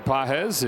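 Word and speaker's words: Pages: Pedro has the emphasis over the second syllable. Andy doesn't have any.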